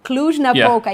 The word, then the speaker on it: Cluj-Napoca: romania yes oh yeah see it's better to pronounce the name of the city that is in the heart of Transylvania cluj-napoca yes indeed some sort of vegetarian food huh